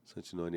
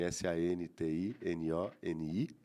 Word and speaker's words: Santinoni: Santinoni. S a n t i n o n i. Não tem dobrados, nada dobrado. Santinoni, como se fala com o hino no final.